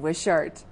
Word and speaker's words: Wishart: And everyone, please welcome Vince Vin Zen Wishart.